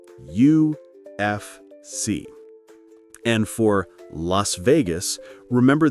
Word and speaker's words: UFC: When we say UFC, we say each letter individually. UFC.